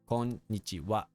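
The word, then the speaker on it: こんにちは: Konnichiwa. Like I said earlier, it's ha, but it's pronounced wa.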